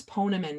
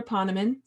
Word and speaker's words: Poneman: pronounce your name correctly it's poneman right it's actually pa like papa that's not that's what